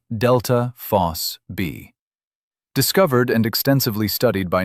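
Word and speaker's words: ΔFosB: It's a protein called delta phos-B, pronounced delta phos-B.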